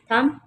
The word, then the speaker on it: thumb: थम, THUMB, थम। थम में डी साइलेंट है।